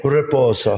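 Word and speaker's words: riposo: you say that again reposo you little like Ruffles of ridges Ruffles reposal you got to do the little roll in there relax you know sit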